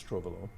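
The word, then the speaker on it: Trouvelot: this is etienne trovalo i i don't know if the proper pronunciation of the tea there but i think it's trovalo he was a french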